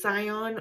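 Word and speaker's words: Syon: Catherine is imprisoned in it's spelled s yo n Abby I'm going to assume it's Sion or cion Abby in Middle sex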